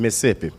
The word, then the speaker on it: Mississippi: So I'm a little country boy from Mississippi. Now natives, we say Mississippi, we cut out that middle syllable. Nobody got time for all that.